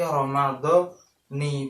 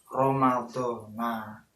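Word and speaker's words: رمضان: Jadi maksudnya dibaca jar, yaitu dibaca kasroh, berarti Ramadhani bukan Ramadhana. Dan mayoritas ulama juga membacanya yaitu Ramadhani hadhis sanati. Lalu bagaimana jika dibaca Ramadhana? Nah, di keterangan selanjutnya di I'anatul Thalibin juga dijelaskan dibaca Ramadhana juga boleh.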